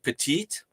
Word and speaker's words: petit: it when you said petite in France we say Petit so you don't really pronounce it e but it does add a little more sound to the last T like foreign we were